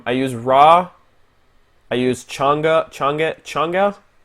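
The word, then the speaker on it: Chang'e: I use Changa. It's spelled change, but there's like an apostrophe E for some godforsaken reason, which changes the pronunciation.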